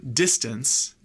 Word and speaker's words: distance: it if I give you a word like distance distance it's not these stunts or these stunts